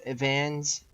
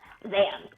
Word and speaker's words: Zans: How do you spell that again? Vans? Zans.